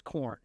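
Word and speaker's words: Korn: said to you like one of my favorite bands is corn you know but they spell it with a K which is even more ridiculous and a backwards are you know just yeah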